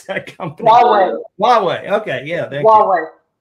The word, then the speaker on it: Huawei: properly, Huawei or something like that.